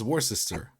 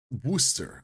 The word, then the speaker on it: Worcester: as well well then I would say it's War sister so it's it's Worcester Worster okay Worcester wer well Worcester Worcester the sauce